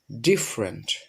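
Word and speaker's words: different: এটা সঠিক উচ্চারণ হবে হচ্ছে ডিফারেন্ট।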